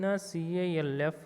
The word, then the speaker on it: calf: In CALF, L is silent.